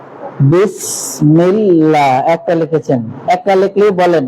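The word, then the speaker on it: بسم الله: আপনারা ঠিক আছে আউজুবিল্লাহ বিসমিল্লাহ লা আগে ছিল জিব্বা উপরে এখন লা জিহ্বাটাকে আস্তে করে নিচের দিকে নিয়ে আসতে হবে আলহামদুলিল্লাহ হুজুর লেখা পালান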